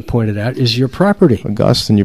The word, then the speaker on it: Augustine: Augustine, you pronounced that correctly. Yeah, not Augustine.